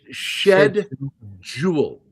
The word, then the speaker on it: schedule: Oh, like the way British say schedule. I'll say it depending it's shed jewel. There's a J in there.